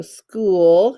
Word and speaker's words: school: same ooh sound so school is tricky because it sounds like s k but it's s c h s c h double o l if you were to